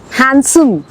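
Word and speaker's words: handsome: अब ये जो वर्ड है ना एच ए एन डी एस ओ एम ई हैंडसम नहीं होता। ये हैंड है बट उसमें डी साइलेंट है। Okay it's called हैंडसम।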